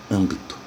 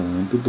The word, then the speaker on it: âmbito: Se você separar a palavra âmbito, você nota que ela tem 3 sílabas. A sílaba tônica é a antepenúltima, portanto, ela é uma palavra proparoxítona. E como toda palavra proparoxítona tem acento, âmbito é acentuado.